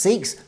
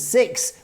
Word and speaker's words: Sikhs: And Sikhs in the UK are pronounced Sikhs, so which does have correct captions. But in the US and North America, Sikhs are known as Sikhs, which unfortunately translates as, well, S-I-X or S-I-K, S-I-C-K.